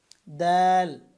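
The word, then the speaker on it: د: এখানে উপরের দিকে খ তারপরে হচ্ছে দাল এই তা যেখান থেকে উচ্চারণ করেছিলাম জিহ্বার আগা উপরের দাঁতের গোড়ার সাথে এখান থেকে দাল উচ্চারণ করবেন দাল দাল দাল উচ্চারণ করবেন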